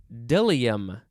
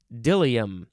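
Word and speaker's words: bdellium: interesting word it is deliam i think that's how it's pronounced but it is spelled b-d-e-l-i-u-m dilium sort of uh the b is silent uh this is a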